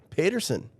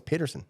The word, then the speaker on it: Paterson: Paterson.